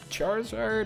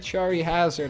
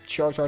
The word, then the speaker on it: Charizard: Here's Lizardon, aka Charizard, or if you're weird, Chari Hazard, I guess. Yeah, some people pronounce it that way from what I heard, at least myself.